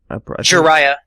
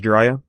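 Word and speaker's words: Jiraia: It's pronounced Jiraiya? Yeah, it's like Naruto's. Oh, no, cause Jiraiya and Naruto spelled with a Y instead of an I at the end. Oh, yeah. So that's why I was thinking it was different.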